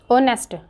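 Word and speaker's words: honest: officer नेस्ट है ये ऑनेस्ट ऑनेस्ट बोलेंगे एच इसका साइलेंट रहेगा नेस्ट ठीक है एन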